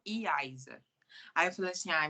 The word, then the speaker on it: Yaisa: comum lá só que se pronunciava Iza e não iaisa aí eu falei assim